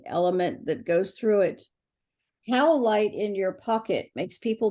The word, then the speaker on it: Howlite: Howlite in your pocket makes people be nice to you. How do you spell that? Let me write this down. Oh my gosh. Howlite. It's like you're howling.